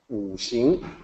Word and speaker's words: Wuxing: So it actually sounds like SH. Wuxing.